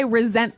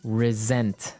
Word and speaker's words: resent: said I resent that resent resent okay now this is spelled exactly like resent like with an S right that's right r e s n t but you pronounce it like a z mhm resent resent that